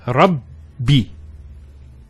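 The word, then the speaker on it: رب: The first Ba takes a Sukoon. And the second takes a Kasra. So it's Rabbi.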